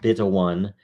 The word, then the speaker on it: 0xb1: This is episode 0xb1, pronounced beta 1.